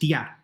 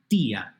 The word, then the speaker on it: tía: the reason is that the stress is on the I. And I, being a weaker vowel, a closed vowel, needs to be helped out. Otherwise, that word would be pronounced tía, and we don't want that.